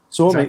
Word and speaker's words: Suomi: Is it Suomi? Suomi, yeah, very good.